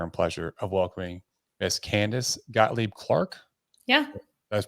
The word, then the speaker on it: Candice Gottlieb-Clark: have the honor and pleasure of welcoming Miss Candace Gottlieb Clark yeah you guys pronounce that right perfectly boom that's what I'm